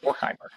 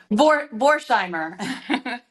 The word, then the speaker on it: Vorheimer: please help me with the pronunciation of your name. Is it Vorheimer? Vorheim. Vorheimer. Vorheimer. Vorheimer.